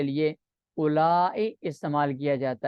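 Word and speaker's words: أولاء: किया जाता है और इसको पढ़ने के दो तरीके हैं उला उला जैसे लिखते हैं ना दर्जा उला उला लिखे और व को साइलेंट कर दे उला यह कसर है कसर का यह माना है उला और मदन का माना है जिसे हमजा ममूद अली ममदा लिखा जाता है उला व दोनों सरतो में साइलेंट है मदन व कसर का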